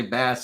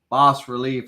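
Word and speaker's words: bas-relief: somebody's like man Lany every time you say bass it makes me cringe boss relief I think is how it's pronounced of a uh 19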